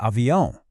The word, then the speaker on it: avião: Now that ending might look a little intimidating at first, but don't worry. It's a really common sound in Portuguese, and it's much easier to say than it looks. An avion is an airplane. And that sound is classic Portuguese. It's a nasal sound.